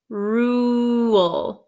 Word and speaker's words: rule: one is Rule rule rule there are there's almost a w sound rule rule okay and the last one